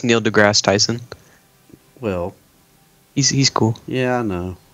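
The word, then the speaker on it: Neil deGrasse Tyson: roll around basically uh Neil degi tyon 's opinion on the most likely character huh he butchered his name it's Neil degrass it's just Neil degrass Tyson well he's he's cool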